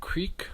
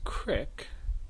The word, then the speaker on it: creek: Another well-known form, creek versus crick. Creek versus crick is an interesting one because if you just pause for a second and try to imagine, well, if there's a difference between the North and the South, which one says creek and which one says crick? And if you ask most people, they would probably immediately say crick is the Southern form.